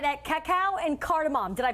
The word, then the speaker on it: Cacao & Cardamom: But Annie Rupani of here, we're right at Cacao and Cardamom. Did I pronounce that correctly?